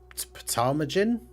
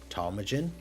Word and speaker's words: ptarmigan: It's ptarmigan? Ptarmigan? I don't know how you say that. I'm assuming the P is silent if it's PT. Ptarmigan?